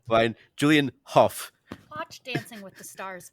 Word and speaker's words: Hough: It says it's spelled how. All right, but Huff say fine. Julian Huff.